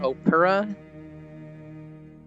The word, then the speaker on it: Opera: It's pronounced Opera. That's weird. Opera.